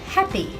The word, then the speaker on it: happy: For example, I am happy. If you say I am happy, it might sound to a native speaker like you are saying I am a pea, which doesn't make much sense to anybody.